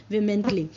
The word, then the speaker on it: vehemently: Elizabeth विमेंटली refuses him, विमेंटली का मतलब है, देखो VEHEMENTLY, इसको हम प्रोनाउंस करेंगे विमेंटली, इसका मतलब है वो